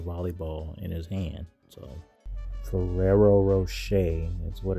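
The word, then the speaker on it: Ferrero Rocher: So, Ferrerero Rocher is what it's pronounced.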